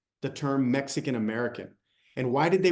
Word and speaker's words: Mexica: not, it's actually pronounced Mexica people, and the Spanish are changing the he to a sh sound.